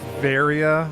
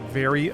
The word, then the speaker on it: Varia: a second it's pronounced varia i've pronouncing it very uh or varya i